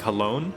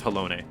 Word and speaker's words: Halone: no it doesn't uh i always pronounce it halloween like hellon uh i think it's hellone or helloni because that's how it's pronounced when um in heaven's word when the narrator says it so i'm pretty sure it's halone what a relief